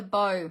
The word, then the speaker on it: bow: Bow sorry Take a Bow no I keep on saying take a bow it's actually pronounced bow because it's a bow maker bundle so it's called Take